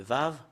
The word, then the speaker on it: ו: Le Vav, voilà. La lettre V. Voilà, la lettre V, c'est Vav, ou c'est V qu'on le prononce.